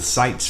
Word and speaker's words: Sitze: And it's spelled SITZE. TZE. Okay. Yeah. Sites family. And so, and the last record was called Sights and Sounds. Yeah. Which I thought was clever. Yeah. Well, that was our introduction to our last name. Yeah. But not spelled the same way. Right. But pronounced.